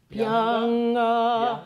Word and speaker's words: pianga: Lascia ch'io pianga, pianga. Pianga or pianga? Pianga. It's not a very hard G there.